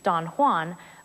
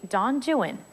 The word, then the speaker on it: Don Juan: Unlike the familiar Spanish pronunciation Don Juan, Byron's poem is actually Don Juan. We know that from the rhymes, like the two verses at the very beginning of the poem that rhyme Juan with true one and new one.